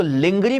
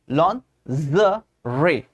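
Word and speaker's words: lingerie: ऑन to Pranav simple यह सबसे ज्यादा एंबरेसिंग मिस्टेक है सबसे ज्यादा लोग इसको लिंगरी पढ़ते हैं लिंगरी पढ़ते हैं लिंजरी पढ़ते हैं लेकिन इसको एक्चुअली पढ़ा जाता है लॉन ज़रे लॉन ज रे जो ज वाला साउंड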